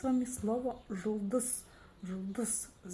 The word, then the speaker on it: Жұлдыз: Чтобы ее прочитать, нужно за основу взять букву «О» обыкновенную. Но прочитать ее очень и очень коротко. О, О, О, Ж, Ж, Ж, Жұлдыз, Жұлдыз, Жұлдыз.